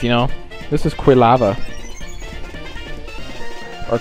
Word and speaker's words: Quilava: There's so many different like pronunciations. You know, this is quilava or qua lava. Quava. Quav. No, it's quill lava.